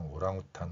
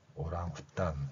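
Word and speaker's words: orang hutan: 이 발음에서 이제 서양 사람들은 이 각각의 소리를 따로 이해했고 그래서 후탄, 오랑우탄 이런 식으로 표현했는데 T 소리가 쌍디읒이기 때문에 오랑후탄 이렇게 발음할 수 있습니다.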